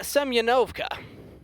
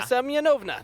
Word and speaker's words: Semyonovna: Sonia Semyonovka. Sonia Semyonovna. There we go. I got it.